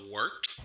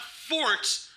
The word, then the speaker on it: Wort: hell is a wart it's pronounced the wart what is it the W yeah okay I'll do that again this is the W on gos radio it is the wart not wart not Fort not short the wart I'm